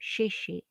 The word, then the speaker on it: Shishi: I call him Shishi, pronounced like shh, not like Enzo says in an Italian, Gigi, Gigi. I mean, that sounded cool too.